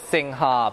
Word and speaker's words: Singha: Because it says Singha, but they say Sing. I don't know how to say it. Usually when I say it the way it's spelt, there's gonna be some guy who's been living out here for like 10 years that will correct me and say, no, that's not the right way to say it. The Thai say it's Sing.